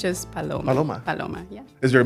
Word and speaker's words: Paloma: Yeah, you're just Paloma. But in English, why do you say it in English? Okay, get this. Palombo, Palomino, Petaluma. What? Yes, in English is tricky, but it's just Paloma.